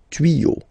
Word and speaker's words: tuyaux: Same rule, you don't pronounce it. Des tuyaux, okay? Un tuyau, des tuyaux. So the only difference will be with the article, because the word will be pronounced the same way.